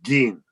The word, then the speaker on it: Gein: The correct pronunciation is Gein, as in G-E-E-N.